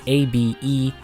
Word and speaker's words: Abelam: I believe I'm pronouncing Abelam correctly. Abelam. I'm not 100% sure. It's Abelam.